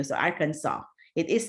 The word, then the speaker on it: Arkansas: different states so anyway but Kansas you actually would say Kansas but Arkansas you make it into a w because it's an Indian name but anyway and then